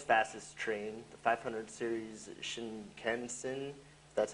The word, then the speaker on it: Shinkansen: And this is the Japan's fastest train, the 500 series Shinkansen.